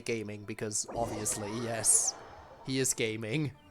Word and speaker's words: Gaming: And I know it's pronounced gaming, but I will always prefer to say gaming because obviously, yes, he is gaming.